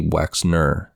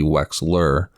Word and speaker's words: Wexner: The billionaire client of Jeffrey Epstein's was Leslie Wexner, not Leslie Wexler like I called him in this episode.